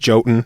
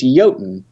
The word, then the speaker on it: Jotun: So it's just Jotun.